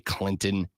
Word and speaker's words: Clinton: of where Lonzo Clinton Clinton sorry Clinton I can see the T it's on your sign if you want to be Clinton then take the tea